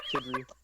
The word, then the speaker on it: Tidri: I have it hyphenated as TID-REE. Tidri.